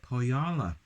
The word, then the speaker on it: Põhjala: to the wonderful folks over at Pohjala, which I think is how the brewery is pronounced.